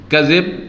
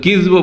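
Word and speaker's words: كذب: কাযিব এটা আরবিতে শুদ্ধ বেশি, কিন্তু কিজব বলা হয়। কিজবুন মানেও মিথ্যা, আর কাযিবুন মানেও মিথ্যা। আর দুটোই আরবিতে জায়েজ, মানে আরবি ভাষাগত, এটা বলছি ভাষাগত বিষয়, দুটো উচ্চারণই জায়েজ।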